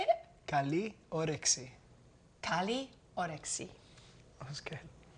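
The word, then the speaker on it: καλή όρεξη: Kaliorexi. What's that mean? It means enjoy your meal. Oh, how do you say it? Kaliorexi.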